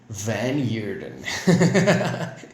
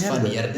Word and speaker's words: Van Heerden: This is episode 45, and with me I have Van Heerden. How do you say it? Well, it's South Africa, so everyone says Van Heerden.